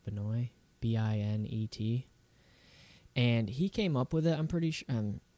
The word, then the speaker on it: Binet: And that like blew my mind because it was created by the original co-inventor Alfred Binet, I think it's pronounced Binet, Binet.